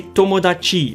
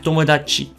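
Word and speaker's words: 友達: Now try not to say tomodachi like pronounce the chi too much.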